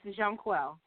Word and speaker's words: Jonquel: the show let's welcome John quell to the show hi hello how are you I'm fine thank you so much for having me now am I pronouncing your name correctly yes Jean quel perfect so you were